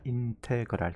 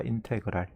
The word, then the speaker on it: 인테그랄: s자를 길게 느리고 요걸 읽을 때 뭐라고 읽냐면 인테그랄이라고 읽는다. 인테그랄. 따라해봐. 인테그랄.